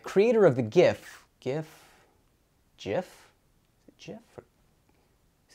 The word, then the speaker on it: GIF: the new york times it's a soft g pronounced jiff end of story i'm